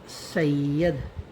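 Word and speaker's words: سید: अब इसका सैयद का उच्चारण क्या रहेगा? सा छोटी ई यादा यद, सैयद। साउंड है सैयद।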